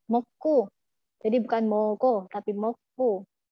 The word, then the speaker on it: 먹고: Jadi kalau misalnya mau ngomong moko itu agak sedikit ditekan. Moko.